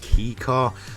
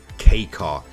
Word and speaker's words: kei car: K car class now a lot of people do miss I guess pronounce it as key car but the real pronunciation I'm pretty sure of is K car now what are these